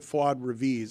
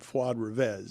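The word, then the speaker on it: Fuad Reviz: Well, he called it Fuad Revis. I thought it was. I've always pronounced it Fuad Revez.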